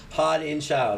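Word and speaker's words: Haudenschild: Hodenschild.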